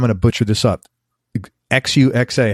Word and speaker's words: Xuxa: a butcher this up Xu XA how do you say that xuxa xuxa yes and that's Chinese I would imagine no no Portugese okay xuxa great guitarists around